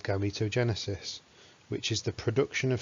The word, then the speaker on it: gametogenesis: have written it clearly enough that you can spell it g a m e t o g e n e s i s gametogenesis and to break the word down a